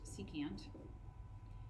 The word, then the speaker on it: secant: on that same note sec which is pronounced secant is reciprocal with the